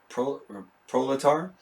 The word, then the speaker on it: proletar: That's how you say it, proletar.